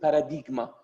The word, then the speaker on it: paradigma: It is very clear, by the way, it is very close to Armenian word, as you pronounce it, paradigma. Yes, definitely, even Greeks, Huinera, they pronounce it paradigma.